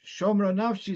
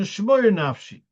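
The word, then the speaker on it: שׁמרה נפשי: No, it's shomra nafshi, it's not a shmoyer nafshi. God, it's a request, guard my soul.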